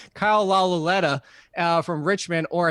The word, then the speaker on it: Lauletta: No, it's Kyle Lauletta, or that they just drafted from. I had an extra syllable in there. Kyle Lauletta from Richmond, or it's Alex Tanney.